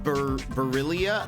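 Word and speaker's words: Barilla: hear about that um in Italy it's pronounced barillia oh in in America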